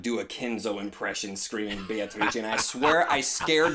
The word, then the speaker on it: Beatrice: back on that pronunciation I keep hearing you pronounce it as Beatrice I swear whenever I first started I pronounced it that way ever since I heard kinzo pronounce it as be a tha I cannot pronounce another way I pronounce it that way when I'm trying to be over-the-top when I when I hear Beatrice I think what to twist and it just ruins it for me Oh oh my